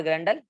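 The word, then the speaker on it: Grendel: गॉटर एंड ग्रैंडल, टंडल नहीं है, ग्रैंडल है, ठीक है।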